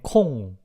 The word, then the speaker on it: 콩: Oh, by the way, 공 and 콩, 공, 콩, 콩. You have to hear the difference between these two. 콩, 콩, but 콩, 콩. Okay. 공 and 콩. The pronunciation 공, 콩, 콩. More aspirated sound.